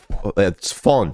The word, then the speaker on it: von: Staaten von America. America. I think her problem is she keeps pronouncing the V as a V and not an F, because in German it's von and not von, you know, von, not von,